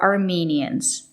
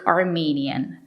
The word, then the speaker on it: Armenian: The country is Armenia, and people from Armenia are Armenians, and they speak Armenian, not Armenian.